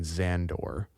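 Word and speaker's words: Szandor: Xander diabo but it's spelled with like an s z silent s and then xandor um he says abraxis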